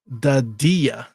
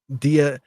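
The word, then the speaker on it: Dadiet: It's pronounced Dadia. Dadie. That's how you say it. So his name is Pacome Dadie.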